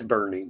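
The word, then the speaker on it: Boerne: for about a year Bernie look like born to anybody else but the real ones no yes it's Bernie is spelled b o e r n i e like it doesn't look it looks like born but it's burning yes like there's a town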